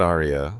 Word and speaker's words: Arya: That's when Arya said something else. He had my name. Everyone in the room fell silent. He said it right. Not Arya, like the song, but Arya, like my daddy says it.